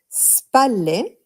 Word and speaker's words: spalle: Remember that when we have a double L in Italian, we extend the L Spalle. sound a little bit.